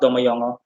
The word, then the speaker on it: domme jongen: And domme jongen is also not pronounced that way. Correct pronunciation is DOMMEJONGEN.